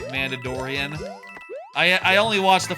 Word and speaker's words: Mandalorian: I sometimes call it The Mandaladorian because I think it's funny to mispronounce the the name of the show. Don't worry about it. But I'm doing it on purpose. I know it's called The Mandalorian.